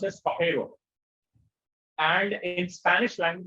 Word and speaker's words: Pajero: So Pajero is actually pronounced as Pajero.